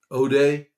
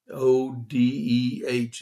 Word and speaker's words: Odeh: It's been confirmed that a Hamas leader, the new Hamas leader, Mohammed Odeh, Odeh is how you pronounce it, is dead.